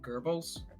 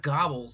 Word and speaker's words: Goebbels: If I had to give him equivalent, maybe Train Goebbels. Goebbels? Yes. Who? From the Third Reich. That's how you pronounce it. It's not. Oh, It's not Gobbles.